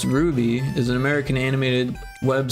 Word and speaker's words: RWBY: I've never seen this never heard of it pronounced Ruby is an American animated web series created by